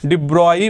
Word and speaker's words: de Broglie: तो डी ब्रॉय इसका correct pronunciation है।